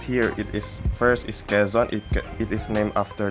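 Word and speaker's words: Quezon: which is plaridel so kazon how do we pronounce kazon it's like keiss but with the letter n in it so okay and so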